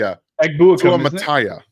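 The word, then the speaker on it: Suamataia: I had his name pronunciation written down, and let me see. Suamataya.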